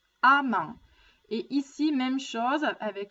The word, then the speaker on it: amment: Attention à la prononciation, ça ne se prononce pas ement, mais a, amant.